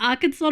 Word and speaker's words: Arkansas: And I feel like Arkansas not be pronounced as Kansas. I think they're coming, like etymology wise, they're coming from different places.